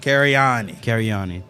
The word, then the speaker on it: Cariani: for the spring play Lovesick, written by John Carini. Or Carini, I don't know how to say it. Cariani.